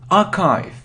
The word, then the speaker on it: archive: It isn't achieve, it's archive. So you see the pronunciation is completely different.